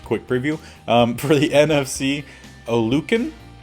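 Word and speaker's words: Oluokun: For the NFC, Olukin, I believe is how it's said, Queen, and then AFC is Vander Esch and Bobby.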